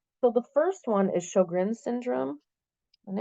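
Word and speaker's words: Sjögren: is shrin syndrome and it's spelled not how it's said so it's s g o oh gosh SJ let me start over SJ o g r n and you say it sugin um this one can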